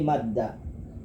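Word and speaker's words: مدّ: Nah ada terjemahnya bi fathil mim jam, quri'a bi fathil mim, dibaca mimnya fathah, berarti madda.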